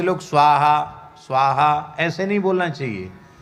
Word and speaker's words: स्वाहा: स्वा के ऊपर ही कई बार आहुति गिर जाती है, हा के ऊपर तो लौट के आ जाते हैं। स्वाहा स्वाहा ऐसे हो जाता है। स्वाहा स्वाहा और उच्चारण करना चाहिए।